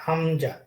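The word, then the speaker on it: ء: 1 নম্বর মাখরাজ হলো হলকের কণ্ঠনালী হা আর হামজা। হালক বা কণ্ঠনালীর শুরু থেকে, শুরু হইতে। হ্যাঁ, এটা বলতে হবে তো। হলফের কণ্ঠনালীর শুরু হইতে হা আর হামজা।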